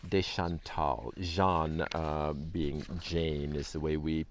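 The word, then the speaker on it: Jeanne: this week beginning with francis de salz and john de chantal john being jane is the way we pronounce that they were two people who reached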